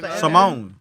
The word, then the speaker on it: salmon: __ ] you know you don't pronounce the L in it Simone Simone salmon color all right next